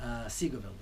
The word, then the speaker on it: Seagoville: they're mostly for most of them from Dallas Seagoville is how it's pronounced II grow and then after about a